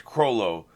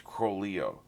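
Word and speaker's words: Chrollo: just make sure yeah the american version has crolo in the japanese version is cro leo interesting that's different i'll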